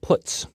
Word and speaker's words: puts: are the most popular they are pronounced printf putcar and puts each function is designed